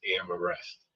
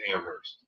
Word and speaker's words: Amherst: If you look it up town it's spelled the way you typed there Amhurst but it's not pronounced Am arrest. It's Amherst.